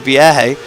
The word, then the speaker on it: Vierge: Vierge is how it's pronounced.